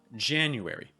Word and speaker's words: January: January. Now January is going to start off with this A sound plus an N.